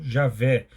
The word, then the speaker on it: Javé: pela forma e aveh ou Javé que é a pronúncia mais próxima do original o tetragrama vem do